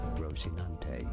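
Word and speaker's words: Rocinante: skinny and clumsy horse in Spanish you can say it as rosinante rosinante okay has shouldn't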